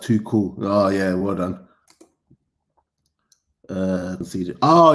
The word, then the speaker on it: Tuchel: It's pronounced too cool.